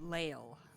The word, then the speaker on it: Leil: Leil. Yes, and she pronounces it Lail.